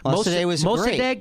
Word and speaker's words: Mossadegh: First democracy, and Mossadegh is how you say it.